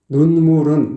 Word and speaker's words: 눈물은: 가장 실속의 쉬운 부분이 눈물은 눈물은이 부분인데 발음이 잘 안 돼요 입술을 바짝 오므려서 눈물은 눈물은 눈 발음을 정확하게 져야 돼요 물 발음도 잘못하면 눈물이